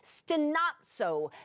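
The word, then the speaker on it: στενάζω: The lexical term for it is stenazo, stenazo. I'm going to spell it to you just in case you like words like this, S-T-E-N-A-Z-O, stenazo, stenazo.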